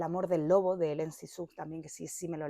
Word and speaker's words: Cixous: que se llama Hélène, no sé cómo se pronuncia, Cixous o algo, es Cixous.